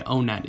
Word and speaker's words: Onett: simple as i can basically the pronunciation of vowels in the japanese language is just different from the way it is in english so because of this basically it's meant to be pronounced o net or on it that is the way it was intended when it was written but between the two i still say o net is more correct and i'll tell you